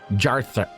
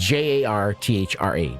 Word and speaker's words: Jarthra: keep saying her name Jarthra Jarthra Jarthra that's how it's pronounced J a r t h r a jarthra.